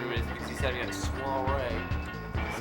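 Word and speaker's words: soirée: I pronounced too many letters, obviously. You put a W in there. Why? Soiree. Sawyery.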